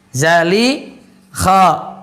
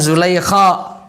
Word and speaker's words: Zalikha: Zalikha bukan Zulaikha. Zalikha di sini kalau cara bacanya.